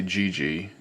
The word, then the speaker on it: GeGe: now is a wife I've heard it pronounced differently i just say GG so that's how i'm going to say it GG it's a EAP 2005